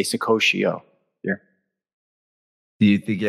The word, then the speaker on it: Saccoccio: friends and uh oh you're saying my name wrong what's the matter with you what's the code i did that to the last guy who also had an italian name so it's just not my forte you gotta learn how to say the names over here it's sakoshio and uh mr pocket